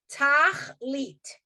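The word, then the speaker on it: תכלית: Tachlit. It's 2 syllables.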